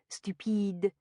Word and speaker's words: stupide: The French enunciate the final syllable of the word stupid, so it becomes stupide.